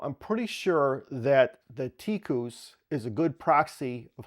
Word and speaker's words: TIKUS: One quick comment, the Malay and Indonesian word for mouse is actually pronounced tikus, and it's spelled like it's pronounced tycus, which is the name of this device.